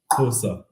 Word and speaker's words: Xhosa: Well, I'm not sure if I get to that 100% either, but it's Xhosa people.